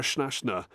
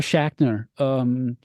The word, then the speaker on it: Schachner: You know, for example, there was Sarah, I believe it's pronounced Sarah Schnashner with Assassin's Creed Valhalla. Again, getting to work alongside different composers and whatnot. How has it been for you? Yeah, Sarah Schachner.